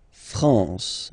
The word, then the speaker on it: France: La France, okay? A-N here, nasal en.